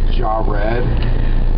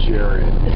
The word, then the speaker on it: Jared: youtube video of yours is it jared with an h or is there no h in your name does it matter ah pronounce jaw red or jared but either way it's just which way do